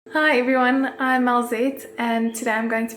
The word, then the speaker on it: Alzet: In my home language, which is Afrikaans, the word for crazy is mal. It's spelled M-A-L, and my name starts with an A-L, so I've been called Malzet instead of Alzet.